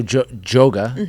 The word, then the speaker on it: JOGA: So, somewhat like, so do you have people teaching, like, so JOGA, right, is how you say it? Yeah, same as yoga with a J.